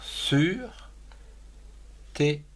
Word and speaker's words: surtout: Surtout, S-U-R, sur, T-O-U-T, surtout.